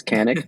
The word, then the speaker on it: Kanik: It's Canic, not Kick.